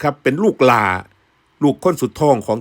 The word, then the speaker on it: หล่า: นี่ แหละ นะ ครับ พอ หีบ ล ลิง ไม้ เอก สระ อา นี่ ถ้า ออก เสียง ว่า หล่า ลา นี่ เป็น คำ วิเศษณ์